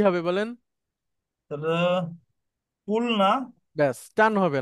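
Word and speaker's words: قُلْنَا: তখন উচ্চারণটা হয়ে যাবে কুলনা।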